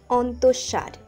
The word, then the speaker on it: অন্তঃসার: অনেকে এই শব্দটি উচ্চারণ করেন অন্তঃসার, সঠিক উচ্চারণ অন্তঃসার।